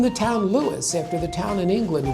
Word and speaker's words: Lewes: name, and we've been Lewis, two syllables, ever since.